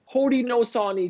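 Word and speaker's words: Haudenosaunee: saying it wrong for all these years since hodi no saw any tribe so hodan is shown hoda nashoni is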